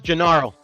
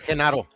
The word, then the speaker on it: Genaro: It's like jalapeno. The H is a J. I mean, the J. Yeah. There you go. Yeah. Because it's his name is spelled with a G, but yeah, they pronounce it like a J.